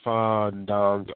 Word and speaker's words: Fandango: Yes, it's Fandango. I am too sick to even try to pronounce that name.